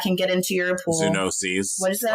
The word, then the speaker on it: zoonoses: Zoonoses. What is that? Right. Animal diseases. Zoonoses. Oh, okay. Zoonotics. I never know how to pronounce it. Like zoo. Yeah. Sounds like it smells. Noses.